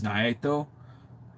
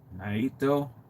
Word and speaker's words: Naito: And if if they gave me an opportunity to choose who, I would choose Nayo. Why did I say it like that? uh Naido Naito um formerly of uh New Japan Pro Wrestling